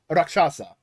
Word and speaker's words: rakshasa: Hindu demon called a rock a rock shasa rakshasa I hope I'm pronouncing that right roxasa um who are basically like demons they eat